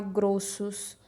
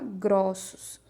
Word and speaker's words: grossos: A gente não pode falar grossos, a gente fala grossos.